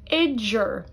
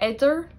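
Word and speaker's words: idir: Idger, idger, which means between. Idger. Notice how I pronounce that like a J. There's an I before the D and after. I don't say idder, I say idger.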